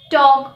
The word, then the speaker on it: talk: o or u for example cough yoke walk talk should the letter m the letter m is